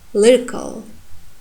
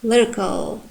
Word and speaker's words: lyrical: The next word, lyrical, lyrical. You see the a sound becomes schwa, lyrical, in unstressed position.